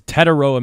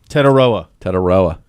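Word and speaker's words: Tetairoa: This is Tetaroa McMillan. Tetaroa.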